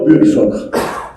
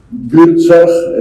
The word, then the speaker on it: Buurtzorg: Y creo Buurtzorg, se pronuncia más o menos así. Buurtzorg es un nombre holandés.